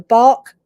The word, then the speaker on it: Bach: If you happen to live in the UK, and these are also available overseas, the bark flower remedies, which is spelled BACH, they're over the counter.